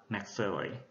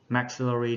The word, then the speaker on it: maxillary: Các bạn lưu ý về cái trọng âm nó sẽ thay đổi. Ở danh từ của chữ hàm trên thì trọng âm rơi vào âm thứ hai, tính từ thì rơi vào âm thứ nhất.